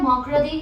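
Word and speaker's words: mercredi: Tuesday का है मार्डी, Wednesday का है मॉकरदी या मकारदी, अलग अलग प्रोनाउंसिएशन उसके।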